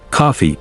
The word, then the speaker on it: Coffey: He's massive, but Coffey, like the drink, only not spelled the same.